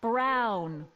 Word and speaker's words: Brown: Emmett Brown. Rhymes with clown, which I'm beginning to Браун, think you клаун.